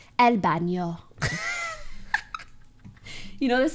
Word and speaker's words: baño: The way I try to pronounce these N's, I don't know how to explain it, but I try to pronounce like there's a squiggly in my voice. El baño.